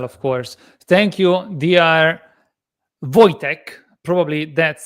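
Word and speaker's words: Wojciech: Voytech. Probably that's how it's pronounced. You pronounce my last name perfectly. My first name pronounces uh as Voytech.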